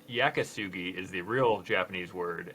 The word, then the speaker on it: yakisugi: videos saying that i'm saying it wrong it's yakisugi is the real japanese word and the western world will mispronounce it shosugibon so it's there's basically no google searches for